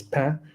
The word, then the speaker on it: Pin: Um, so Dorian, uh, people in English say Pin, but I think in French is Pain.